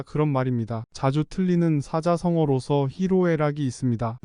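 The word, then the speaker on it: 희로애락: 사자성어로 히로 에라이 있습니다 히로 에라 한글로 표기할 때 히노애락 잘못 표기하는 경우 아주 많습니다 발음도 히로 에라이 하지 않고 보통 히노애락이라고 하는 것이 일반적입니다 그래서 더욱 히노에 락으로 잘못 알게 됩니다 일반인은 물론이고 신문 방송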